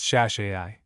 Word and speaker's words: Shasai: Hebrew for noble pronounced shashi.